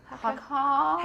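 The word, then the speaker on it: Haakaa: I've used Hacker. Is that how you pronounce it? Hacker.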